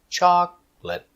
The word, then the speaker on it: chocolate: three two chocolate stress is on the first syable Chocolate. Chocolate.